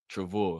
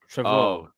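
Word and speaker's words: Trevoh: What's his name again? What the say his name was? Travo. Trevor. So T R E V O H. Travo. Travo. Yeah. Travo.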